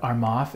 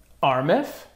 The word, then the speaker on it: Armaf: Did you guys know that the correct pronunciation of Armaf is actually Armif?